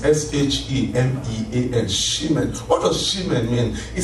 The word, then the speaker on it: shemen: You can speak in tongues and the Holy Ghost will give you the interpretation of how to pronounce it well. But it's S-H-E-M-E-A-N, shemen.